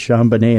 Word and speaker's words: Jean Bonnet: Jean Bonnet Tavern although if you pronounce it in the French way it's shamb banet and that creeps me